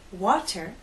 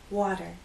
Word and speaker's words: water: you've probably noticed that Americans do not say water we say water and you've probably noticed